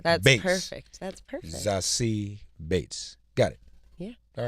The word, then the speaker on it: Zazie: last name is German, but my first name is French. It's French. Mm-hmm. Zazie Bates. Zazie. Zazie. Yeah, that's Bates. perfect. That's perfect. Zazie Bates.